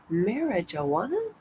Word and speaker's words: marijuana: Marijuana? Because that's really how you pronounce it, marijuana. But and we know that the J is silent, so marijuana.